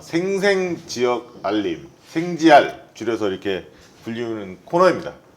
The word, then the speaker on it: 생지알: 생 지역 알림 예 생지 r 발음 잘 해야 되기 때 지랄 이 아니라 라 4 네 오늘